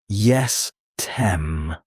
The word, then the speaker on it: jestem: In Polish you say jestem, pronounced jestem. This means I am.